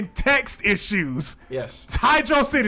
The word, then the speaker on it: Hydrocity: yeah labyrinth zone yeah hydro city hydro city just in case anybody out there pronounces that hydrocity like a idiot you're dumb it's hydro city hydra god damn it